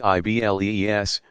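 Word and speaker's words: Iblis: diabolical figure is called AI bleah pronounced i BL es from the Greek diabolus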